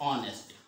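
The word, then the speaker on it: honest: लिखा है क्या है, ये होनेस्ट नहीं, ये लिखा है ऑनेस्ट, क्या लिखा है ऑनेस्ट।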